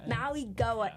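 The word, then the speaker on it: Mauigoa: Maui Goa.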